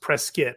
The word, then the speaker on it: Prescott: it up with another town but it is pronounced Prescott which is very well how the people are